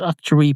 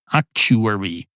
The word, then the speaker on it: actuary: Actuary. That's what it is. It's actuary. Rhymes with factory, which probably annoys a lot of people.